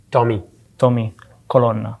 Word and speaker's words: Colonna: How do you pronounce the name slowly, please? Tommy Colonna. Colonna. Okay. Yeah.